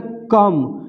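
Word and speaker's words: comb: जैसे यहाँ पे है बम, तो बी देखिए एम के बाद है तो बी साइलेंट है, इसको सीधे बम पढ़ेंगे, बम माने बम होता है। यहाँ पे कम, तो यहाँ भी देखिए बी जो है एम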